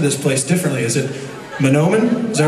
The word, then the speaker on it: Mahnomen: meet a few people, and you guys all pronounce the name of this place differently. Is it Mahnomen?